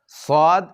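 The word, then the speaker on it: ص: আচ্ছা, সদ এবং সিনের মধ্যেও একটা মিল রয়েছে। সদ এবং সিন, সদের উচ্চারণ করার সময় মুখটি একটু গুল, ঠোঁট একটু গুল করতে হয়। সিন আদায় করতে তা করতে হয় না।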